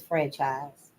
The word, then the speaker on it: Française: The French La Académie Française, I guess it's franchise, but it's spelled Francaise, was founded in 1635, and the Germans established their National Academy, Leopoldina, in 1652.